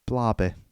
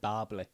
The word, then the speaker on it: Barbie: you for what mate Barby is that what I said you said Bary Bary so you said it wrong Big Bang fairy yeah